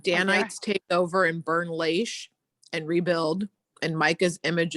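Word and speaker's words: Laish: danites take over and burn lace or however l-a-i-s-h is pronounced yeah and rebuild danny's take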